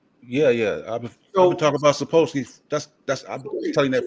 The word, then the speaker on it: Sapolsky: Dablowski, am I saying it right? How you say his name? Sapolsky.